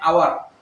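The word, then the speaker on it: hour: ওকে, এরপর আসেন, যেমন কোন শব্দের মধ্যখানে আওয়ার, আমরা আওয়ার, এটা এইচ দিয়ে শুরু হয়, কিন্তু এইচ উচ্চারণ হচ্ছে না, এরকম প্রথম ওয়ার্ডটা উচ্চারণ,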